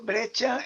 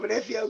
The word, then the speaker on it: Breccia: Y luego también aquí está la edición bueno, yo digo Breccia con la pronunciación italiana, pero Breccia, como queráis decir, que es también El Eternauta.